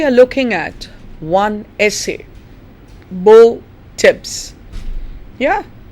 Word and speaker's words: Beau: In this lecture, my dear students, we are looking at one essay, Beau, Tibbs. Yeah, B-E-A-U is pronounced Beau, Beau Tibbs, by Oliver Goldsmith.